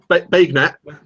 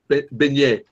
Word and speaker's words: beignet: I was just wondering how you're getting on with the Benau or whatever, however it was pronounced. Bagnet. Bagnet. The Bagnet. Yeah, the banana Bagnet. Beignet.